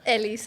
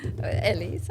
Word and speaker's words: Elisa: Like, state your name, like pronounce it, 'cause I can't do Elisa. the accent. Yeah, say it one more time. Elisa. There you go. One more. Elisa. Oh, shit. There we go. Elisa.